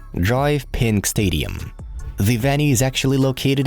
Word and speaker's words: DRV PNK Stadium: Inter Miami play their home games in DRV PNK Stadium, pronounced Drive Pink Stadium.